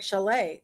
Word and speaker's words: Chalet: here um mentioned that Chalet is is kind of is pronounced like Chalet like a house you know like a cabin a Mountain Chalet and then I mentioned